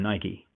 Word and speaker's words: Nike: a great example from Nike you notice I use the American pronunciation of Nike there because that's you know how it's pronounced the but anyway sorry